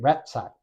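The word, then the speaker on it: ratsach: General killing in Hebrew the word is ratac r a TS a c h ratsack I think ratac is the way you pronounce it I may be doing that wrong but it refers to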